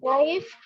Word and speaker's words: knife: K is a silent letter.